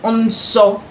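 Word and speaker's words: nsọ: So shout holy means holy in pronouncing the word unso the first n is a pseudo. So in one of my video I've talked about pseudo vowels. The n there is a pseudo vowel.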